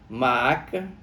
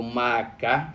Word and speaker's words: Maaca: O nome da mãe dele era Maaca, ou Maacá, como você queira pronunciar.